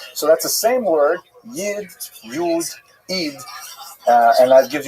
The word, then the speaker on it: Yid: So that's a Lithuanian pronunciation, Y-I-D, Yid.